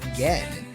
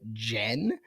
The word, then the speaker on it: Gen: back to talk Barefoot Gen, which I thought up until this morning was called Barefoot Jen when Yeah. So, I was pronouncing it wrong for probably about a week, but now I know.